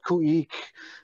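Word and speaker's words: Khueex: I have a group right now called Kuik, which means potlatch in the Tlingit language. And it's spelled K-H-U-E-E-X.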